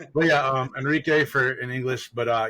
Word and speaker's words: Enrique: school my name is Enrique or Enrique for those who want to pronounce it properly uh roll the r roll the Arts not roll your Arts yeah so not Enrique not Henrik it's Enrique Enrique Enrique